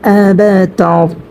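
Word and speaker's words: أبتر: এখানে যে রটার উচ্চারণ হবে সেটাও কিন্তু পূর্বে আমরা পড়েছি। এখানে যেরকম হাল, এখানে রর উচ্চারণটা মোটা হবে, এখানেও কিন্তু রর উচ্চারণটা মোটা হবে। কারণ হচ্ছে রটা সাকিন হওয়ার কারণে র সাকিন ডাইনে আমরা জবর দেখতে পেয়েছি, সেজন্য এখানে আমরা রর উচ্চারণটা মোটা করে পড়ব।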